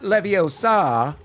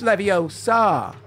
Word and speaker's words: Leviosa: It's not Leviosa. It's Leviosa. You're saying it wrong.